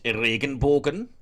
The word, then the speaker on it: Regenbogen: The German pronunciation is Regenbogen. The Dutch pronunciation is Regenboog.